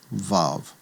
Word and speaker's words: Vav: And when it serves as a consonant, it will get the V sound, the VV sound as in vav. So the sixth letter is called vav.